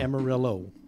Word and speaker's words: Amarillo: Amarillo.